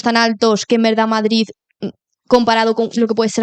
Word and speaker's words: Madrid: sé cuánto sabes de Madrid lo pronuncio mal porque soy aquí de madrileña Entonces no pronuncio la d pero crees que está